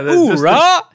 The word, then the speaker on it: Uhura: Uhura! No yoo-hoo. It's ooh-hoo.